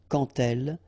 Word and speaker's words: quand elle: Remember, when you will have this D, you will phonetically pronounce it like T. Quand elle, dans un, okay, in